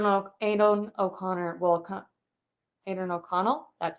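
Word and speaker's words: Aidan O'Connell: if I don't know Aiden O'Connor will come adren O'Connell that's how you say his name we'll come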